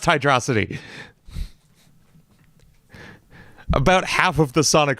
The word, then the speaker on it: Hydrocity: Megamind whenever he says hydrocity I know it's pronounced hydrosity about half of the Sonic fandom agrees with